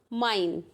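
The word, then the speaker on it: mein: तो इसका एग्जाम्पल क्या हो जाएगा, माइन। Okay, माइन। ठीक है, तो जहाँ भी आई ई आएगा तो उसे ई, और एम ई आई आएगा तो आई, जस्ट अपोजिट।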